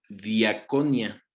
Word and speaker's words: diakonia: y la palabra ministerio viene del griego diakonia con cada día con acento en la segunda y y significa servicio